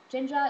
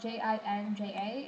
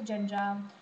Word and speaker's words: Jinja: Jinja is spelled J-I-N-J-A. It's not said Jinja, like the Boston accent of Jinja, even though I think